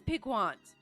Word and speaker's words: piquant: And then when I do look it up, I still have that memory of how I used to pronounce it. It is piquant.